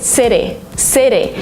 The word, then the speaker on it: city: In American English, if you have a letter T in the middle of a word, sometimes you pronounce it as D.